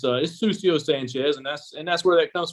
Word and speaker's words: Cusio Sanchez: So you pronounce it Cusio Sanchez.